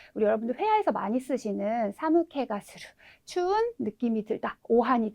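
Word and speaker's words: 寒気: 우리 여러분들 회화에서 많이 쓰시는 사무케가 스루, 추운 느낌이 들다, 오한이 들다라고 하는 이런 단어인 경우에도 지금 나와 있는 캐로 읽으셔야 됩니다.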